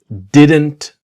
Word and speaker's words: didn't: What we want to learn is about the T is silent, right?